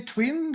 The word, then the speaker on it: Tvvin: Do I say Tvvin the right way? Because you have two V's and Tvvin, maybe? I don't know. No, you pronounce it absolutely correctly.